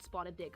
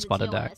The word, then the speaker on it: spotted dick: This is not called spotted dick. It is called spotted dick.